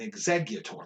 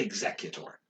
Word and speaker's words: Exeggutor: my point i'm like oh it's an exeggutor like i'll catch myself if i can say it so but if i'm just like reading them really quick i'll say executor oh yeah i don't